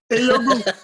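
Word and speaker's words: Ehiogu: Eyogu. That's the way you pronounce it.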